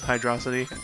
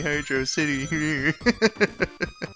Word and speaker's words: Hydrocity: know rapid pronounces it it still is hydro city and I'll be like it's supposed to be heard your city but you know it's